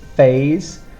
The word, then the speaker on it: phase: first word we have phase it's a bit like the word face but we have a z sound here for the s z